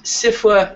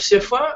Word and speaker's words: SFWA: Fantasy writers of America the second f is silent I am the President of sifa and we're going to